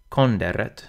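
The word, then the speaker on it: conderet: Konderet should be relatively simple too. The N and the D are split up, and the R begins the final syllable, konderet.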